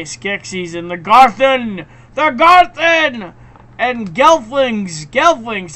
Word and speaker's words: Skeksis: But that's okay, Skeksis, that's what you say, Skeksis, and the Garthen!